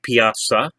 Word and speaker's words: piazza: italian is called piazza the l becomes an i so it's piazza piacha piazza it depends which part of italy you're in or in